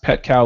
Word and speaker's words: Petkau: It is pronounced pet cow like a moo cow.